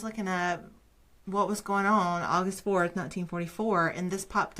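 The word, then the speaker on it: Auguste: Van pels and Herman's wife August if I'm saying that right Herman and August son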